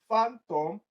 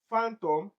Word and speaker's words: phantom: You have intact, obscure, phantom, reform. So for option D, reform, reform. The second syllable is the one that has the stress pattern. Reform. We form to represent it with capital letter. For phantom it is pronounced as fan.